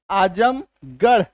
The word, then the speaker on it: आजमगढ़: है ना, चित्तौड़गढ़, छत्तीसगढ़, तो ये गढ़ का जो स्पेलिंग है, गढ़ का जो उच्चारण है, इसी में, सिर्फ और सिर्फ इसी में आपका ढ होगा आर का उच्चारण।